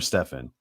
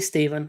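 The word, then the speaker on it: Stephen: You got, is it Steven or Stefan? It'd be Steven. I don't think. Steven, okay. Like I said, man, we pronounce things different, or sometimes it's Stefan, sometimes it's Steven.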